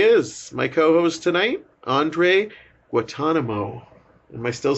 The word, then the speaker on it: Guantanamo: I think you just dropped the first N. You said Guantanamo. It's Guantanamo. Guantanamo. Like the bay.